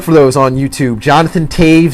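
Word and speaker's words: Toews: uh look look for those on YouTube Jonathan Taves spelled t o e WS pronounced differently but that's how it's pronounced Taves and Rick Nash uh hopefully you can spell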